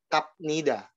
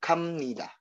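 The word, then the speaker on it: 갑니다: Tapi dibacanya bukan kap nida, ya. Ingat kalau ini dibacanya yaitu kam nida, am nida ya. Jadi dia B tapi tulisannya B tapi dibacanya amnida. Hakyoe gamnida.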